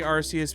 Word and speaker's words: Arceus: But yeah, the platinum, the Giratina scene was sick, which was made even sicker in Arceus. I say Arceus because that's the way I originally pronounced it back in the day, and it's the way Japan pronounces it.